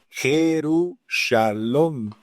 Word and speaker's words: Jerusalén: Jerusalom es como se pronuncia realmente Jerusalén, la ciudad de paz o el lugar de paz.